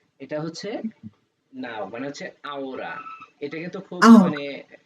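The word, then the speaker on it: ahora: আওরা, এটাকে বলা হচ্ছে আহোরা বলে না, এটাকে বলা হচ্ছে আওরা। নাও, আওরা, ওরা, আওরা। আওরা। এই আওরাটাও কিন্তু ম্যাডাম একটু আসতেছি। এসব। হ্যাঁ, এটা হচ্ছে নাও মানে হচ্ছে আওরা।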